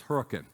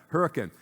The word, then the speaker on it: Hurricane: hurricane or uh Utah not hurricane spelled like that but the locals tell us it's hurricane so let's get it right all right hurricane so this is hurrian